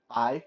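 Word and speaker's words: 白: Black is hey, H A, hey, and white is bye, like bye bye, bye.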